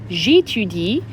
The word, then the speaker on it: j'étudie: J'étudie, make sure you're not repeating j'étudiais when I say it, and you end on the appropriate silent E.